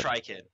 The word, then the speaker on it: Trican: Okay, so uh, is it pronounced trican or That's it. Just trican? try, kid. Trican.